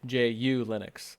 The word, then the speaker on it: ju Linux: hyphen U hyphen Linux that's what I would actually spell it it's just ju right I I but I wrote it down so that I would say it ju Linux like that no that's fine